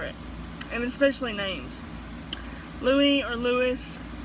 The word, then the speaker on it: Louis: and it especially name's Louie or Louis I'm gonna pronounce it Louie because that's what I'm used to it's spelled lui and